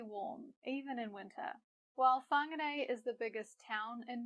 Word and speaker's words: Whāngarei: Now, you might notice that the letters WH sound like Whāngarei, and this is another useful Māori consonant to learn. Anytime you see WH, remember that the sound is Notice too that we have another example of two vowels next to each other, e and e. When we put them together, we get a, Whāngarei.